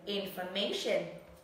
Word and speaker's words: information: Nhớ này, infer, nó không nhận trọng âm mà hai âm này không nhận âm, thêm dấu huyền. Âm này trọng âm dấu sắc, còn cái này là dấu huyền.